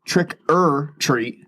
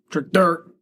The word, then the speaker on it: Trick 'r Treat: Trick-or-treat. Trick-or-treat. Trick-dirt. Not Trick or Treat.